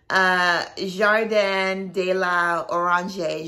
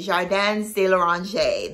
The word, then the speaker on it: Jardins de l'Orange: Jardin de la Orange, Jardins de l'Orange. That's how you pronounce it.